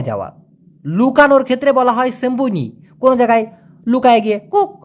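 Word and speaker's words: sembunyi: লুকানোর ক্ষেত্রে বলা হয় সেম্বনি কোন জায়গায় লুকায় গিয়ে কুক কুক নাও দিলে খেলবো না সেইটাকে বলা হয় সেম্বনি এস ই এম বি ইউ এন ওয়াই উচ্চারণটা হবে সেম বুন ই সেম্বুনি অথবা অন্তিতে রশি দিতে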